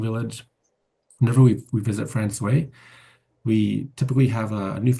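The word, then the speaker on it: François: It's pronounced France by the locals.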